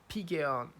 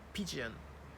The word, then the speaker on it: pigeon: and they say oh look at that pigon and he doesn't understand that's because the pronunciation is pigeon pigeon so you have to